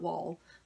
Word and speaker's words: Wol: an MSD sculpt and it's WOM WOL so I'm pronounce that wall and she has a